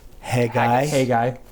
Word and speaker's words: Haggai: Haggai. Haggai. Not haggis. That's Wayne's World.